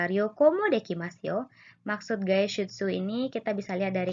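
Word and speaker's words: 外出: Nah, tadi deguchi ya minasang, masih dibacanya D ya. Sekarang bacanya berubah ya, gaishutsu.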